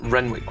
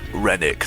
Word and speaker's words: Renwick: Renwick was your name, correct? Rennick, yeah. Rennick or Renwick? Rennick, the W is silent.